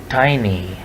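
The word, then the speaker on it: tiny: यानी स्मॉल के मतलब में टीनी नहीं कहना, जो बताना है, टीनी नहीं, टाइनी।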